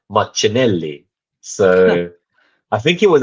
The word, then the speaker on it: Martinelli: but then also Martinelli said his name is pronounced Martinelli so I think it was actually Adrien Clark